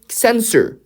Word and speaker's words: censor: 하지만 어떻게 우리가 말하는지는 may escape censor. 이 캔서라고 읽으면 암이 돼요.